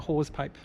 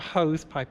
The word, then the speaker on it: hawse pipe: well, but yeah, a hawse pipe, not a hose pipe, a hawse pipe, not a hawse pipe, a hawse pipe. It's spelled like that.